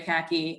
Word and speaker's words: Kahky: My Instagram handle is Kahky like the pants, but it's spelled my last name Kahky.